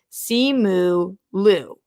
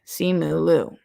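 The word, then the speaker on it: Simu Liu: comments of your post for this show it's pronounced see moo lou you you're right simulu okay see mooloo and did you hear that from him garth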